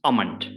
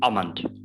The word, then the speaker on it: almond: that so it is almond almond we do not pronounce l so it's ah mind it's like a almond